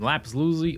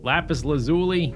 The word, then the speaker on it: lapis lazuli: gold and iron and laps Lucy all kind of stuff lapis lazuli let me pronounce all the syllables they're gonna grab a